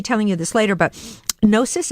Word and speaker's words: Gnosis: You guys, first of all, I'm going to be telling you this later, but Gnosis, is that how you pronounce That's it? right.